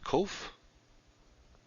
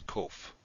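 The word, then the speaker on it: קוף: Now it is transliterated with a q, a small q, but it's never pronounced kwe, as in quick. So don't pronounce it that way. Pronounce it k, as in king. So that's kof.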